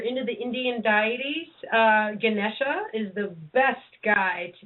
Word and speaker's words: Ganesha: way okay and H how do how do you say his name Ganesh well Ganesha I believe Lord ganesha's they they I'm probably not saying it right but it's either Ganesha or Ganesha either or g a